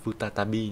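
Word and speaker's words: 再び: Từ tái mà nó có cái chữ bi đằng sau này thì cách đọc của nó sẽ là futatabi nhé. Đây. Futatabi. Đọc theo cái âm nhật của nó.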